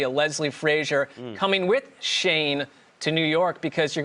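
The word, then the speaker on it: Schoen: bill's assistant gm joe shane he's the new gm nailed it hey look at the spelling it's different than the pronunciation get it right or pay the price greg it is striking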